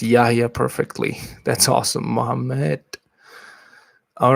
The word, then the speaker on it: Yahya: You pronounce Yahya perfectly.